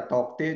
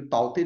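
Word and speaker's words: Tauktae: Next cyclone ताउते, ताउते या तौकते जो भी है, ताउते ऐसे इन नॉर्मल प्रोनाउंस किया जाता है।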